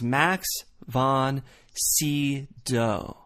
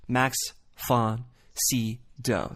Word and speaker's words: Max von Sydow: So the actual pronunciation is Max von Sydow. You can even give the V a little F, Max von Sydow. Sydow. It's not Sydow or Sydow, it's Max von Sydow.